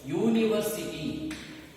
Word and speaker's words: university: Some words are going to begin with vowels, but they are not going to be pronounced as vowels. They will be pronounced as consonants. Take for example, university. University.